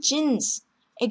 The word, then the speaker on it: Jeans: 요트의 경우도 독일어 고유 단어들 같은 경우 뭐 용, 유니 이런 식으로 유 발음이 나는데 외래어인 jeans의 경우에는 그냥 영어식으로 die Jeans 이렇게 읽습니다.